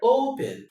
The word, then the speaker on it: open: Look at how this word is transcribed. Open. See? In the right articulation of this word, the stress here, the e n here is en. En is a schwa sound. It's a weak syllable. It's weak. It's weak. And remember, I just said in the second introduction that you don't stress a weak syllable. You don't. So this is a diphthong, so the stress comes to this.